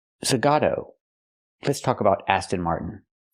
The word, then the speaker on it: Zagato: fun zag what ni it's not pronounced Aston Martin zagata it's pronounced Aston Martin zagato let's talk about Aston